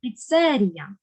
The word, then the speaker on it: піцерія: Слово також правильно наголосили піцерія Ми звикли зовсім по-іншому говорити але в українській мові маємо наголос на другий склад серія Ми з подружкою